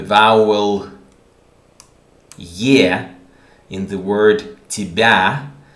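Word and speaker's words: тебя: yeah in the word tibia is not pronounced ye but almost e i say almost because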